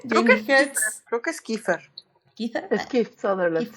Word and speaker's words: Kiefer: Creo que es Kiefer. ¿Kiefer? Es Keith Sutherland. Kiefer Sutherland, sí. Exactamente, por eso yo paso pronunciaciones de otras personas.